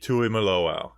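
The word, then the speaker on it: Tuimoloau: off way too early draft week with JT Tui maloau and I learned how to pronounce that name it's like suck it the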